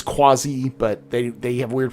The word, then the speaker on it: Quasi: so the kazi grazer or i think it's quasi but they they have weird pronunciations in the universe so it's actually quasi is how it's about how it's pronounced which is q-u-a-s-i um comes from the